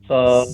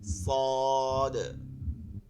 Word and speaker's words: صاد: الذين আচ্ছা صاد صادের উচ্চারণটা করি তাহলে, صاد صاد। দ صاد এটা শেষে কিন্তু বানানে নামের ক্ষেত্রে এখানে দেখবেন দাল আছে, এর জন্য একটু দালটা কলকলা হয়, কলকলা আস্তে আস্তে পড়বো আমরা।